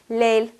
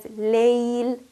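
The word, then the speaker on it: ليل: Sometimes, often I've heard pronunciation of this word as Layl. Again, here we're ignoring the quality of lean for the ya. In fact, we're almost ignoring the ya completely. So we have to make sure that we pronounce this word as Layl, giving the quality of lean to the ya, giving the ya its correct due.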